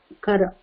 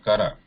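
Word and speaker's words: कर: Aja, Gaja, Hara, Kara. So these should be read as what she pronounced, like Aja, Gaja, Hara, Kara. So they should not be pronounced like Har or Kar or Gaj or Aj.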